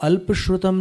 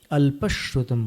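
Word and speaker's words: अल्पश्रुतं: रहेगी है तो इसको alpishratham नहीं बोलना alpashotam बोलना जैसे हिंदी में अपन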